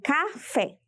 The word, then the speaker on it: café: Temos como exemplo a palavra café. Ao dividirmos a palavra café, vemos que ela possui 2 sílabas. Ela é de sílaba. Se verificarmos a posição de cada sílaba de café, veremos que temos a última sílaba fé e a penúltima sílaba cá.